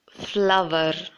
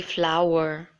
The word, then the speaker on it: flower: Now, I've seen most of them pronounce this word as flower. It shouldn't be flower, but it should be flower. So make sure you pronounce this word as flower. Hour. Ow. Flower. Just round your lips if you have to.